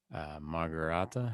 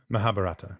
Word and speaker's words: Mahabharata: Maybe they did, but I can't imagine a priest standing up there reciting the entire Margarata. How do you say it? Mahabharata.